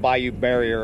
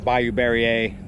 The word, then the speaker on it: Bayou Barriere: most things along here this is called bayou barrier or bayou barrier both pronunciations are used by all accounts it looks like a